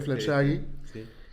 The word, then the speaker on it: Fleur Jaeggy: Creo que se pronuncia Flaggi.